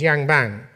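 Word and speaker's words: yangban: class-based system known as I think the pronunciation is Yang bang where a small aristocratic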